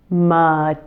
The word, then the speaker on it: materials: Then the I is said E, and is followed by a dark L and a final Z sound. So here it is slowly. Materials. Materials. The hardest part is probably the ending combination of the dark L plus the Z sound.